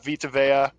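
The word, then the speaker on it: Vita Vea: __ ] that front seven is nuts veya vitaveya is that how you pronounce his name yes the guy who lit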